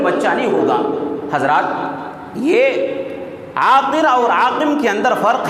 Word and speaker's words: عاقر: آخری حرف ہے را، را کا جب آپ تلفظ کرتے ہیں تو اس کے اندر دو چیز ہیں۔ ایک چیز یہ کہ اس کے اندر تکرار پایا جاتا ہے، تکرار، اس کا تلفظ کرتے ہوئے تکرار ہوتا ہے، را را، اس کے اندر تکرار ہے۔ اور دوسرا اس کے اندر جو ہے وہ یہ کہ اس کے اندر اس کی ادائیگی کرتے ہوئے، اس کا تلفظ کرتے ہوئے منہ کھلا ہوا رہتا ہے، منہ کھلا